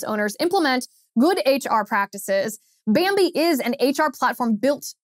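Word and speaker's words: bambee: help small business owners implement good hr practices bambi is an hr platform built for businesses just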